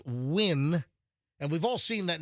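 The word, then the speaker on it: Nguyen: uh right and NG U ngu ye n pronounced win and we've all seen that name spelled but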